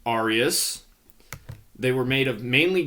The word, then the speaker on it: aureus: On the other hand, you have the Roman coins, which are pronounced aureus.